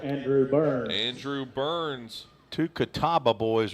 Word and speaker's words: Catawba: You know, we didn't tell Todd Hamilton how that's pronounced. The radio voice of Paducah. Catawba. He was putting an extra A in there, and I did see it spelled that way one time.